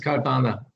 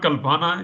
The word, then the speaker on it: Kalpana: Kalpana? Yeah, it's Kalpana, Professor, it's not Kalpana, it's in Indian Hindi language, it's Kalpana.